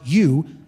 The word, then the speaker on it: eu: the adjective you uh Epsilon Epsilon Upsilon in Greek pronounced you is the adjective meaning